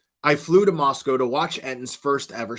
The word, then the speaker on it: Moscow: Moscow, outsiders pronounced it Moscow, but locals said outsiders pronounced it Moscow, but locals said Moscow.